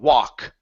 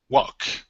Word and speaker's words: walk: Take out the L. Instead of wall, only an sound. Walk the plank. Walk the plank.